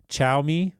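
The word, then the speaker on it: Xiaomi: it's interesting you mentioned I think you pronounced it show me Seth and I have a lot of ongoing jokes on the show because I'm terrible at pronouncing this - I think it's chow me Seth did I get it right that time yep that's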